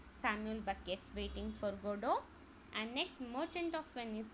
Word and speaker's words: Godot: Samuel Becket waiting for godo so you cannot um pronounce this as Godot you have to pronounce it as goo goo here T is silent I'm repeating T is